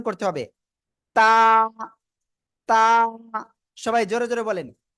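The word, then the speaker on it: ت: জিহ্বার আগা খেয়াল করেন জিহ্বার আগা এই উপরে দুই দাঁতের গোড়ায় লাগান লাগান লাগান লাগান দ্রুত লাগিয়ে উচ্চারণ করতে হবে তা সবাই জোরে জোরে বলেন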